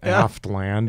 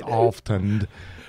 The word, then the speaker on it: Alftand: It's you know, it's not Aftland, it's Alftand.